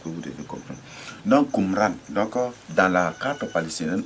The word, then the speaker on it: Kumra: Donc, Qumra, phonétiquement, s'écrit avec K-U-M-R-A. Qumra.